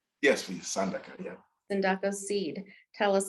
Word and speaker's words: Sandaka: And so tell us about, and am I saying it right, Sandaka? Yes, please, Sandaka, yeah.